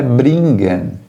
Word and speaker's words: bringen: Aliás, o G, ele tem som de G, mas no caso, quando ocorre o encontro consonantal NG, você vai pronunciar esse NG E de uma forma diferente. Fica algo semelhante ao NH.